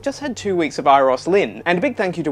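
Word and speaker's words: Euros Lyn: corrected my pronunciation of its Iris Lynn not URIs Lynn iris Lynn and it's a Welsh name meaning golden and a big thank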